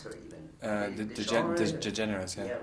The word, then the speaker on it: DeGeneres: How do you pronounce her even? DeGeneres, yeah.